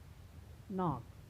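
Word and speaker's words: knock: के पहले आए तो वहाँ पर के का उच्चारण नहीं होता है। जैसे नी में क्या होता है? घुटना। नाइफ, नॉक, यानी लोग बोलते हैं ना, नॉक दी डोर, यानी दरवाज़ा खटखटाओ।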